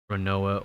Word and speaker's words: Roronoa: In Japanese, L'Olonnais is pronounced Roronoa or Roronora Roronoa.